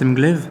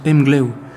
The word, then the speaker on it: Emglev: que mgev se prononce mgleau et là je découvre que le V à la fin des mots en breton se prononce un peu comme un comme un o comme un W et je découvre encore